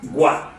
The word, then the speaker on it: 棍: Le mot bâton va se prononcer guan.